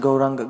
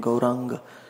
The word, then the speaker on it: Gauranga: First syllable is Gau, second syllable is Ra, third syllable is Ang, this one, Ang, this and this combined, Ang, and the last is Ga, which is down.